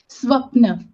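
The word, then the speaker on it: स्वप्न: How is it pronounced? Swapna.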